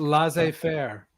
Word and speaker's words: laissez-faire: It's not laissez-faire. I like how you say that. Laissez-faire. I couldn't pronounce it.